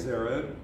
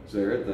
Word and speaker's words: Zered: We proceeded across over the water, Zered, pronounce that for me. Zered. Zered, thank you.